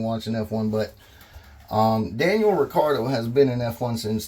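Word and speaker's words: Ricciardo: that his name is Daniel Ricardo that's how he pronounce it it's pretty much mentioned in every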